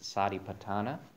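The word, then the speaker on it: satipaṭṭhāna: uh we'll move into tonight's topic which is sa patana and so that's the that's the pronunciation of the word on uh under part two there on the handout sa patana um and that's a poly term term it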